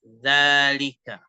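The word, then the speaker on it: ذٰلِكَ: tentang dalika tentang dalika Perhatikan cara membacanya cara membacanya adalahika Danya di fathah dibaca panjang lamnya di kasrh kafnya di fathah dalalika ya dalalika dalam bahasa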